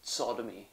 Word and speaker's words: Tsodomi: to be and that's sodomy Sodom but it was spelled with a t it was a silent T and yeah so you'd expect to start with an S given the sound of a word but when he put